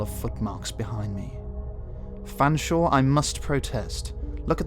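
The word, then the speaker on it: Featherstonehaugh: you sir he said Featherstone how my body I would like to book a room for the night please I said please sir it is pronounced Fanshawe let me just check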